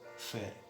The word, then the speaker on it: Fehr: Y si quieres seguirme, sígame y ponga en YouTube, vaya a YouTube y ponga Pastor Mauricio Fer. Fer se escribe F-E-H-R.